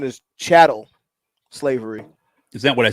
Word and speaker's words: chattel: The pronunciation is chattel slavery.